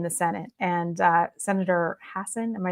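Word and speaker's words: Hassan: was happening in the Senate and uh Senator Hassen am I saying it right yes from out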